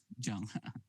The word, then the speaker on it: Django: sir this django but we need to pronounce jungle it's not junk actually jang for PHP.